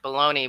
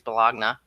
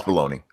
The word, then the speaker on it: Bologna: how to pronounce Bologna and I'm like Bologna but if you listen to Chris it's B'Elanna no it's Bologna it's just spelled funny definitely blog down yeah